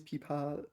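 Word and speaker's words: 琵琶: Yeah, and the pronunciation is pipa.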